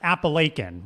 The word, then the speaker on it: Appalachian: mountain range do we live in app it's pronounced appalachin right what you just said yes thank you